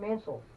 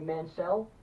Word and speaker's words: Mansell: So not only do you get a shot at the championship tonight, but Lord Robert Mansell, or I'm sorry, Mansell, that's how he told me to pronounce it.